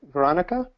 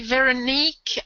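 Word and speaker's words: Véronique: I wanted to ask for Veronica. Is that how you pronounce it? It's actually Veronique, a former colleague of mine said it's like very unique, Veronique.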